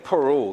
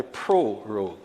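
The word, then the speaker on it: prorogue: rogue this honorable house you know many times the pronunciation and people miss they first are and end up saying peru it is actually pro road this honorable house on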